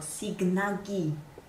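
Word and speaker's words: Sighnaghi: Of cours I said it wrong. It's not {Singhagni} but {Signangi} I learn it about second day.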